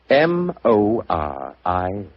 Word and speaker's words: Moriarty: I'm afraid I'll have to begin calling it the way it looks. M-O-R-I-A-R-T-Y.